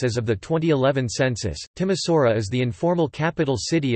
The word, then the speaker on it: Timișoara: Timișoara, Romanian pronunciation, Timișoara, listen, German, Temeswar, also formerly Temesberg or Temeswar,